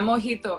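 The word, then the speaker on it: mojito: ola but the the letter j is actually pronounced with a her sound yeah yeah mohito exactly yeah so that is the alphabet in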